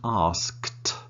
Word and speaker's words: asked: just remember pronunciation right it is not a skit it is one sound asked asked asked so it's like tell there is no -